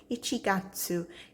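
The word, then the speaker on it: 一月: And then here it has the pronunciation Ichigatsu in English.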